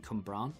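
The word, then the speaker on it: Cwmbran: It is actually Cumbran, but not a lot of people say that because that's the proper way to say it.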